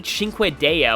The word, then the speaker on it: Cinque Dea: Also, I pronounced that wrong in the last video. It's actually Cinque Dea, which I think means, like, 5 gods.